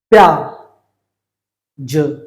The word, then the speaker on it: प्याज: तो अब देखिए मैं इससे शुरू करता हुआ तुरंत या बोल दूंगा, प्या, प्या, ज, प्याज। तो इसका हम उच्चारण क्या करेंगे, प्याज।